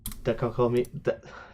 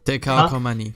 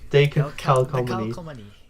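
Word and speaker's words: Décalcomanie: Fire and Stay, Mamamoo Dekakomi. I can never say this. Dekalkomani. Dekalkomani. I could never say it right the first time. It's French.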